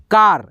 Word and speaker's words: car: यहाँ पे देखिए CAR, ये देखिए फिर से, यानी कि देखिए 2 कॉन्सोनेंट अक्षर के बीच में ए आ रहा है, ठीक है, ए अक्षर, तो इसका उच्चारण आ आएगा, कार, कार।